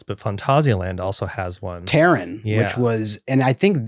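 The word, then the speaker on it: Taron: Terran, which was, and I think that Terran was, is that pronounced right? Taran, yeah. Which is I go with Taran very usually.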